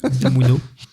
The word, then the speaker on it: Unamuno: C'est ça, je prononce bien? J'étais pas sûre. Oui. Unamuno.